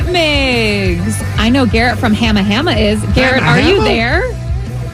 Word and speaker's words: Hamma Hamma: The place is Hamma Hamma, but the company, like the oyster company, is Hama Hama.